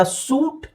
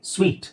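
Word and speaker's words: sweet: dessert ಅಂತ ಹೇಳ್ತೀವಿ next ಇದು ಇದನ್ನ ನೋಡಿದಾಗ ಸೂಟ್ ಅಂತ ಅನ್ಸುತ್ತೆ ಸೂಟ್ ಅದು ಸೂಟ್ ಅಲ್ಲ ಆಕ್ಚುಲಿ ಸ್ವೀಟ್ ಸೊ ಇಲ್ಲಿ ಉಚ್ಚಾರಣೆ ನೋಡಿ ಎಸ್ ಡಬ್ಲ್ಯೂ ಐ ಎರಡು ಚುಕ್ಕೆ ಎರಡು ಚುಕ್ಕೆ ಇರೋದು ಇದು ಈ ಅಂತ ಸೂಚಿಸುತ್ತೆ ಸೋ ಸ್ವೀಟ್ okay so ಸ್ವೀಟ್ right ಸ್ವೀಟ್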